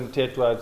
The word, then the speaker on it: Mthethwa: Mtetwa.